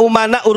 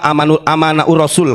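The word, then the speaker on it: أمناء: Al ulama umanaur rasul. Walaupun si Bahar salah bacanya bukan alulama umanaur rasul. Al ulama amanaur rasul katanya. Pintar goblok itu bukan pintar. Benar bukan amanah. Umana saya benerin ya.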